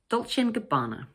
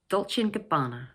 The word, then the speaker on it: Dolce & Gabbana: But it sounds much more natural to connect the 3 words together so that the word and almost disappears, like this, Dolce & Gabbana, Dolce & Gabbana.